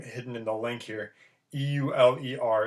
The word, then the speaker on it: Euler: this guy's name hidden in the link here e-u-l-e-r it's pronounced euler it's i believe german i probably